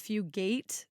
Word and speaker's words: Fugate: So the story starts with Martin Fugate. I think that's how you say his name. Yeah, I'm pretty sure you're right that it's Fugate.